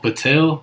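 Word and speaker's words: Poeltl: How do you pronounce that, Alfred? Patel.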